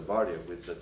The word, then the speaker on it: varia: In the same time, the most common use for the varia, sorry, I call it as in Romanian, we put accent on the first syllable, it's varia.